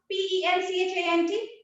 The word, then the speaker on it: penchant: how by the way how do you pronounce p-e-n-c-h-a-n-t that what appeared when i shared the syllabus with all of you penchant it's pronounced as function right so what we